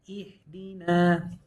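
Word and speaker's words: اهدنا: Anyways, right here we say E, followed by a ha with a sukun. And just stopping right here. Ihdina.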